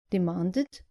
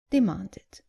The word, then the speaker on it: demanded: The less common mistake is not pronouncing the id clearly at the end of verbs ending in t or d. Just make sure you pronounce the e clearly. So, not invited, but invited. And not demanded, but demanded.